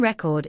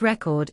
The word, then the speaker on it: record: For example, the noun record is stressed on the first syllable, but the verb record is stressed on the second syllable.